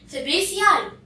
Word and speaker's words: Fabaceae: Look at the word Fabaceae. This word is pronounced as Fabaceae.